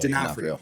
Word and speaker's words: D'Onofrio: I mean, you got like Vincent D'Onofrio. Is that how you say it? D'Onofrio.